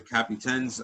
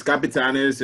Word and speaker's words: Capitanes: So there's going to be a G League in Mexico, and they're calling it the Capitans. I hope that's how you pronounce it. No, well, it's the Capitanes. Yes, it's Capitanes, and the team already existed.